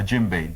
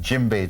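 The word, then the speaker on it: djembe: drum is called the jimbe d j m b e the D is silent jimbe drum and they use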